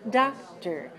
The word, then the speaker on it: doctor: instructor doctor refrigerator or don't say tor doctor professor in english okay no no no not so good in english professor instructor doctor okay so those syllables are weak the same as er